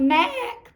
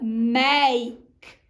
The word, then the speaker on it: make: now we see that make has our sneaky e on the end making the a say a it's not mac but make all right let's try